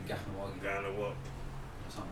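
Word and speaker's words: Kahnawake: Ganawagi, because the K in Okay. Mohawk is pronounced G.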